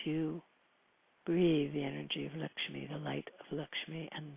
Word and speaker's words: Lakshmi: And her name, Lakshmi, which is pronounced to rhyme with luck, which is, I guess, not a coincidence.